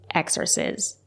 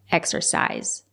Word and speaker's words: exercise: to exercise my creativity it's not correct to say exercise it's pronounced exercise use the long I exercise it can be